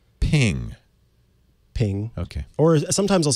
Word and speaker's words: PNG: How do you pronounce ping? Ping. Okay. Or sometimes I'll say PNG, honestly.